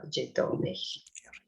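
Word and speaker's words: Didòmhnaich: Yeah, you don't pronounce the MH because it's in the middle of the word. So Gidoni.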